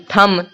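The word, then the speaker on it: thumb: एच यू एम बी थम देखिए यहां पे एम है यहां पे बी है तो यहां पे लास्ट में आपको यहां पे ब का कहीं भी कुछ भी उच्चारण नहीं दिख रहा है थम मतलब होता है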